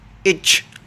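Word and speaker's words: etch: इच, ई टी सी एच, हमारे पास इसमें T silent है।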